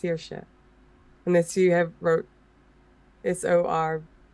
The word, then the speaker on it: Saoirse: No, I just know that name is pronounced Saoirse.